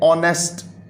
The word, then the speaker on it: honest: फिर बच्चों आगे वर्ड है ऑनेस्ट, HONEST, ऑनेस्ट। इसमें भी हम क्या करते हैं, एच को प्रोनाउंस नहीं करते।